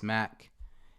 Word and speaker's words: Mack: all social media platforms my name is mack and it's spelled how it sounds mac m-a-c-k uh